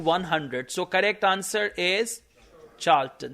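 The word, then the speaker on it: Charlton: बाद seats up टू 100 correct answer is चार्ल्टन सी एच ए आर एल टी ओ एन अब यह वो spelling है जो काम बंदे को नहीं पता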